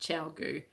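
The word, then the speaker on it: ChiaoGoo: It's definitely said like that, Chowgu. It is spelt, and I can never remember.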